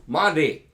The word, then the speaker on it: Monty: The T in Monty is like the T in water. Americans don't say water. The British people say water. I'll have a glass of water. Water. Jamaicans say water. Water. Americans say, some of them, water. It's not a T, it's a D. Water.